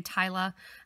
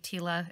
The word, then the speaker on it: Tila: the half Tila also some people will say TAA um we talk to the guys at myuki Tila is how they pronounce it so um that's